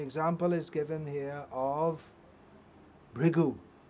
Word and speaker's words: Bhrigu: And the example is given here of Bhrigu. In Telugu you'll say Bhrugu, is it? Pronounce it a little differently.